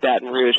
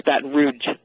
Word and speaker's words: Baton Rouge: and and it also said Baton Rouge correctly which he says it with a hard G you know like it's bat roue you know like like people there would say bat Rouge and he his favorite